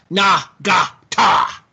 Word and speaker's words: Nagata: He said each one is its own separate syllable. Na-ga-ta.